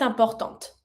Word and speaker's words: importante: La nature est importante. And I pronounce my last T from importante because it's in front of the mute E.